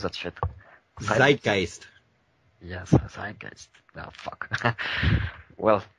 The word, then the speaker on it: Zeitgeist: How do you pronounce that shit? Zeitgeist.